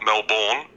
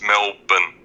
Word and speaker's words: Melbourne: Mountains you got Sydney pronunciation it's not know born its Melbourne okay Melbourne it's just melbourne